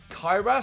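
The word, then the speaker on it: Cyhra: the metal super group kyra c-y-c-y-h-r-a i think that's how you say it they're on the saturday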